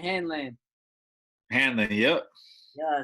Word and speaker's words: Hanlan: Hanlan.